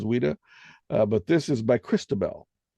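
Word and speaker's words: Ouida: or whatever and or Wida that would be a great example from the 19th century we don't right o-u-i-d-a I think that's how you pronounce it as Wida but this is by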